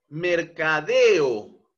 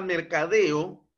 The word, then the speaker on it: mercadeo: Mercadeo, ¿no? Yo puedo dividir esta palabra mercadeo, mercadeo, ¿no? Entonces, el mayor impulso de voz se encuentra precisamente en la última sílaba, deo.